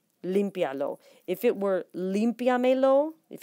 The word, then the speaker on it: límpialo: syllables, not just vowels, make sure to count vowel combinations as seen in words like limpialo as 1 syllable. For example, there's your 1 syllable. Lo. IA is considered one syllable, not two separate syllables because of the diphthong of the two notes of the two letters together, and then 3.